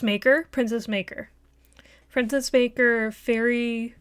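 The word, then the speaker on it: Faery: princess maker princess Baker Fairy Fairy Tales come true but it's spelled like Faye f-a-e and it has it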